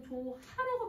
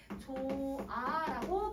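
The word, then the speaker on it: 좋아: 조타에다가 여러분 아를 선생님이 붙일 거야. 그럼 이건 조하라고 발음하지 않지? 조아라고 발음을 해줄 거야.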